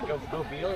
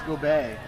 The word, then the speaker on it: Gobet: Is it Gobel is how you pronounce it? Oh, no, he's French.